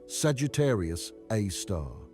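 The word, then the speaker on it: Sagittarius A*: It's called Sagittarius A star, pronounced Sagittarius A star, and it's 4 million times the mass of the Sun.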